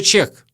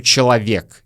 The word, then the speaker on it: человек: И вы, опять-таки, можете услышать не просто молодой человек, а вообще молодой чек. Чек, да. Мы часто произносим в обычной жизни слово «человек» как «чек», потому что мы произносим быстро.